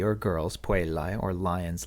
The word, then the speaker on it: puellae: For first declension nouns, the nominative plural is an I, an AE, pronounced I, which gives us puellae.